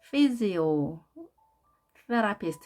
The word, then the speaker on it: physiotherapist: physiotherapist 이렇게 나눠서 발음하면 정확하게 발음할 수 있습니다. physiotherapist. 강세가 2에 있습니다.